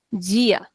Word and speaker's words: dia: So for example, the word dia means day in Brazilian it becomes gia.